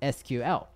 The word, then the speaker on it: SQL: Honorable mention number three, SQL, which some people pronounce as SQL.